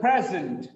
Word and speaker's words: present: I have received a very good present. Present. Udugare. It's a very good present. Present. The first syllable is stressed.